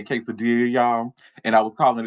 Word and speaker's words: quesadilla: the side and say, "Hey, Derek, baby, is pronounced quesadilla." Nobody ever did that. They was sitting there let me walk around looking like a damn fool calling it a quesadilla.